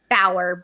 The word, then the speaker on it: Bauer: then Bauer, B as in boy, Auer, like Eddie Bauer. Or if you were a 24 series fan, I say Jack Bauer.